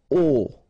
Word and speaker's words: au: Okay, so a plus le will become o, like that. You write it au, you pronounce it o.